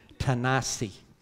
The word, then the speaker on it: Tennessee: was kind of fun tennessee cannot see that's how i'm told to pronounce it tanasi okay uh texas okay